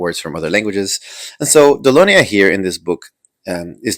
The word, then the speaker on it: Dolonia: Oh, pronounced Dolonia.